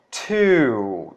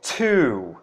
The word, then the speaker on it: too: E no segundo caso, a pronúncia é to, tá? Então percebam que o som, ele é um pouco assoprado, tá? Então, to, tá? Então, é o mesmo som do número 2.